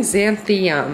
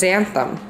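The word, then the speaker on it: xanthan: lots of fun stuff you guys keep saying xanthium it's it's just xantham oh i mean that's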